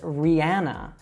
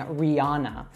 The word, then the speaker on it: Rihanna: All right, so she would say her own name as Rihanna. Now, you'll find a lot of Americans that also mispronounce this by saying Rihanna. Now, the correct way is with that ah sound, but either way, you'll definitely be understood.